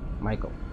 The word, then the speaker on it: Michael: Michael, se pronuncia Michael en inglés.